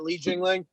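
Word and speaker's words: Li Jingliang: I think that, like, you know, Li Jingling, that's how you say it, Li Jingling, or even like a Leon Murphy.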